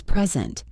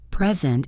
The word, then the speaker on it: present: Another example is present. Present is a gift. Present is to show.